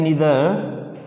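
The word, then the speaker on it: neither: इसे बेटा देखो हम नाइदर बोलते हैं ना, लेकिन नाइदर इसका सही उच्चारण नहीं है, नीदर नॉर। क्या बोलते हैं बेटा? नीदर नॉर, ईदर और, इस तरह से।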